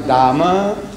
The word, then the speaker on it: Dame: the toilet and it's written there Dama, D-A-M-E, Dame. They pronounce Dama and H-E-R-E. To me, Dama, here. I said, Dama means ladies, here.